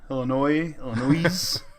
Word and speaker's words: Illinois: I will say illinois' Illinois the S is silent you jackasses Illinois I'm